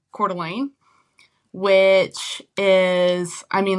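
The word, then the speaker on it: Coeur d'Alene: But, uh, I grew up in a town called Cordelane, which is I mean like people have a really hard time spelling it.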